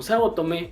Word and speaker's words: Saotome: mientras que en latino siempre se refieren al apellido de Ratma como saotome en castellano parece que por momentos acentúa la última sílaba y por otros no hablando del trueno azul